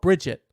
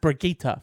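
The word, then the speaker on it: Brigitte: only for me because it's like dog it's it's spelt Bridget it's Bridget but it's pronounced brigita for summary I don't know why Wraith from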